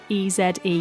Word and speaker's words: Eze: Theo Eze. I think I've got that pronunciation right. It's spelled E-Z-E, and I'm basing that on the Crystal Palace footballer who is Eze.